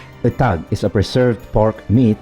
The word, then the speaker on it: etag: preserved first of all the word the tag or some pronounced as itak leans more on coming